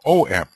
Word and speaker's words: AUM: He says use the word Om, O-M. And AUM, of course, is often pronounced Om.